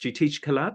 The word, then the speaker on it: Jitish Kalat: Just briefly, Jitish Kalat. So there's an Indian contemporary artist, Jitish Kalat. Correct. Am I pronouncing it Yeah, right?